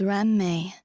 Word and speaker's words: Ruan Mei: Uh, anyway, let's move on to discussing. My name is Ram May. When saying my name, please don't run the syllables together.